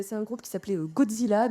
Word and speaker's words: Gojira: À la base, c'est un groupe qui s'appelait Godzilla. Donc Godzilla, c'est la version un peu japonisante de de Godzilla. C'est la version prononcée à la japonaise.